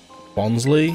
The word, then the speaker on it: Bonsly: Bonsly? Is it Bonsly or is it Bonsly? I just think it's meant to be pronounced like bonsai.